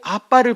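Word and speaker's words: אבא: 아라머에서 무엇을 우리가 아빠 엄마 영어에서 파파 마 하듯이 아라머에서도이 아빠를 부르는 말이 아바 Aba 똑같아요. 스펠링도 A BB를 써서 아바 정확한 표현은 아빠 우리 말과 똑같죠.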